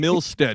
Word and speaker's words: Milstead: We've got Adam Milstead. Did I say that right? Milstead? Alan's fine. No. No. Adam Milstead. Is that? Did I say Milstead right? Yes. Perfect. Yep.